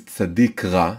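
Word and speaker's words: צדיק: the name of the the name of the letter is sadiq sometimes it's called sadi sometimes it's called sadiq so sadik means a righteous man a righteous person what is sadiq that doesn't make any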